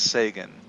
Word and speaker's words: Sagan: Look, it's pronounced Sagan.